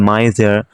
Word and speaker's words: miser: কি কোন ব্যক্তির গল্প তো এখানে এম টা কিন্তু এম এর উচ্চারণ হয়েছে এবং আই টা কিন্তু আই এর উচ্চারণ হয়েছে এস টা ঝর মত উচ্চারণ হয়েছে ঝ মা মাইজার দ্যা মাইজার এখানে একটি